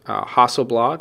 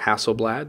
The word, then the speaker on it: Hasselblad: Now, it may or may not be known by a lot of people, but DJI owns Hasselblad or Hasselblad, depending how you pronounce it.